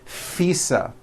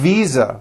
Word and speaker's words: visa: just received her International fisa correct no I said fisa with an un voed F I should have said V Visa with a voiced V living I am living